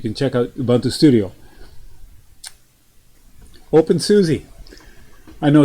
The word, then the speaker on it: openSUSE: OpenSUSE. I know it's not pronounced Susie. I know it's pronounced some way else, but I like OpenSUSE. I'm gonna call it OpenSUSE.